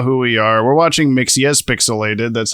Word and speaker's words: Mxyzpixilated: We're watching Mxyzpixilated.